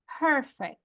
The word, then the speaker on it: perfect: Porque no diríamos perfect. En español decimos perfecto. Y como que el acento es más, no es la primera. Lo decimos perfecto. Pero en inglés sí dicen perfect. So it's different.